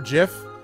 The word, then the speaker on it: GIF: It's a hard G and I will fight you, mate. Let's discuss how to say GIF. See? It's GIF, it's not GIF.